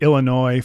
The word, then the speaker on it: Illinois: I don't really like Illinois for some reason the the silent S at the end sort of pisses me